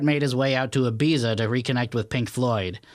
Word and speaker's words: Ibiza: Don't you say it like with a like Ibiza. Ibiza. Oh, Ibiza. you're trying to be properly Spanish. I was Yeah. trying to be like Ibiza, Barcelona. like an I'm English going geezer.